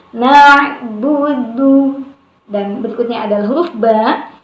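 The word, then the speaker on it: نعبد: Jadi tidak dibaca dengan na'budu, ya, tetapi na'budu.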